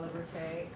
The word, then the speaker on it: Liberté: Liberté. If you could correct me if I pronounce the last name incorrectly. It's all right. Like liberty. Okay. My name is Liberté.